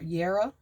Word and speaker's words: jera: so the title of this Rune is jera or pronounced y Yara um j e r